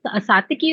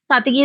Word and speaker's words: Satyaki: You can call it Satyaki also. You can call it Satyaki also. Satyaki is more Sanskrit pronunciation, and Satyaki is more Hindi.